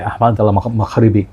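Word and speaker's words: Ahmed Al Maghribi: Let me show you Marj by Ahmad al-Maghribi, okay? That's how it's said in Arabic.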